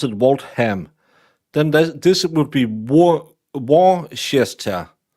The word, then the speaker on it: Waltham: How can Waltham be pronounced Waltham? Why isn't it Waltham? Why do you choose to say that H?